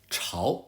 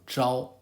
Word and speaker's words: 朝: This character, Zhao, has 2 common pronunciations. Chao as in facing certain directions, or Zhao as here, meaning morning.